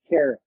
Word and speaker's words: Karryt: I am putting Jimmy Carrot, the powder keg. Look him up. Jimmy Carrot. Yes. Carrot. Like the vegetable. It's spelled K-Y something.